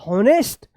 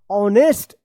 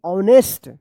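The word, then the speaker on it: honest: होनेस्ट यह गलत हो जाएगा। इसको पढ़ा जाएगा ऑनेस्ट एच ओ एन ई एस टी ऑनेस्ट young Y ओ यू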